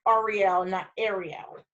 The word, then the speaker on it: Ariel: all right all right REO and it is pronounced Arielle in that area correct correct that's a area